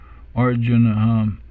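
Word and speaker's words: अर्जुन: The R comes on top, this combined consonant cluster here, R, and then we have a short U sound, Arjuna, and then we have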